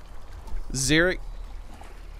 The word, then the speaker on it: Xearrik: Xearrik. Exactly like it's spelled. That's why I got the 2 R's in it. So it's not mistakable for anything else.